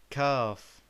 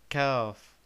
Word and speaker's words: كاف: Our letter for today is called Kaaf. Kaaf. The previous letter we met was called Qaf. Qaf. But this one is called Kaaf. So be careful with the pronunciation.